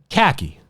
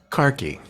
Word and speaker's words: khaki: something else comes up khaki khaki I I I learned or as jaisal says it car key car key cocky because she's from London carkey that sounds like so